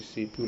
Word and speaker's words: CPU: रहा है, यहाँ पे सीपीयू लगा हुआ है मदरबोर्ड के ऊपर। इसको हम central processing unit pronounce is separate letter सीपीयू, और उसको अलग अलग लेटर के साथ हमारे को प्रोनाउंस करना रहता है।